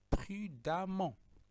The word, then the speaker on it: prudemment: adjectif, on va avoir prudemment. Ce ne lit pas prudemment, ça se lit prudemment. Même si on a E ici, ça se prononce prudemment.